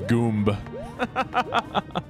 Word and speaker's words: Goomba: as soon as the tutorial is done it's pronounced Goomba okay so you can only have one wind